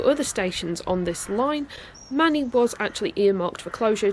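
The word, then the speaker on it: Manea: it to the station I now know to be pronounced as Manny not Mania so yes at this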